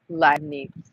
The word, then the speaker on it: Leibniz: How do you pronounce that name? Leibniz.